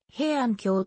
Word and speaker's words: 平安京: いる平安系は普通臣臣で平安京と読むが時に平都と